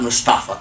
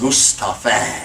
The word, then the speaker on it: Mustafa: in the call it they call themself Mustafa there's not Mustafa its Mustafa I'm just a fan